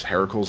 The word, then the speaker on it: Heracles: mythology um so yes Heracles is Hercules same same person Heracles is just his actual Greek name you're you the way you were your way years pronounced as a Heracles what the heck Miracles was Heracles was Hercules given name and then Mortals could not pronounce Heracles so they changed it to Hercules or Heracles okay sorry